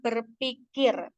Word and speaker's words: berpikir: kata berpikir dari kata berpikir kesalahan fonologi pada kata tersebut terjadi karena konempe di lafalkan F sehingga pelafalan kata berpikir menjadi berpikir bentuk baku dari kata berpikir yaitu bentuk bakunya berpikir data 2 data selanjutnya